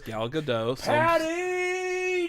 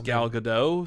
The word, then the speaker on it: Gal Gadot: gal gadot gal gadot okay you pronounce the t he refers to her as gal gadot she does say gal gadot you're wrong she pronounces the t well i like thinking